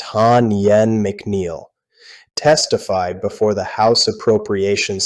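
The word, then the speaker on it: Ha Nguyen McNeill: TSA acting administrator Hanwen McNeel, that name is pronounced Han Yen McNeel, testified before the House Appropriations Subcommittee on February 11th.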